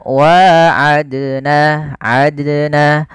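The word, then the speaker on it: وعدنا: Harusnya tidak boleh. Harusnya bagaimana? Wa'adna, adna, bukan adna, bukan. Tapi wa'adna. Kemudian pelafalna.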